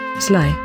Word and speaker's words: SLI: So let me now introduce this new, and quite important, UniML construct, the Swimlane Island, or SLI, which is pronounced as Sly.